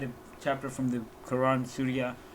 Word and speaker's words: Surah: I had a chapter from the Quran, Surah 9, but then again at the same time, or Surah, is this? Yes, I think I don't know, fucking man, it's pronounced Sura.